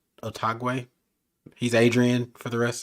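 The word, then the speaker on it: Otaegui: Otagwe.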